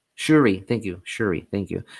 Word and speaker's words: Shuri: And I think Shira, is that how you pronounce her name in the film? Shuri? Shuri, thank you.